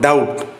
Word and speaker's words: doubt: second one Maline G third one doubt silent letter is B fourth one through GH